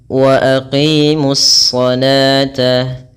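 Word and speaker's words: وأقيموا الصلاة: Ini adalah alif lam yang kita tulis tetapi tidak kita baca, sehingga alif lam tersebut langsung di-idgham-kan atau digabungkan ke dalam shad, sehingga shad tersebut membawa tashdid. Wa aqimus shata.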